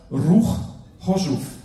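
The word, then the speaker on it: Ruch Chorzów: Und er spielte in der schlesischen Spitzenmannschaft Ruch Hoschuf. Habe ich richtig ausgesprochen? Richtig.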